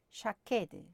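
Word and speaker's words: שָׁקֵד: 아몬드 나무는 샤케드, 지킨다는 말은 쇼케드입니다. 모음 하나 차이죠.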